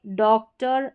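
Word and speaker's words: doctor: तो देखिए डॉक्टर, एक्टर, visitor, एडिटर, डायरेक्टर। तो इसको और नहीं पढ़ रहे हैं हम, ज़्यादातर स्पेलिंग्स में हम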